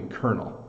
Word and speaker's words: colonel: of Colonel um so don't pronounce this L don't pronounce most of this the way it looks this is definitely kernel so this person is